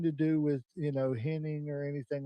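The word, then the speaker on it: Hennig: Perfect got I can't say his name right ever. It's Henning to me. I don't care what they say in the South. It was pronounced inning, right?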